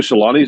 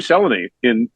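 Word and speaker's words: Selänne: So in Finnish, the first syllable is always emphasized, and you pronounce every letter.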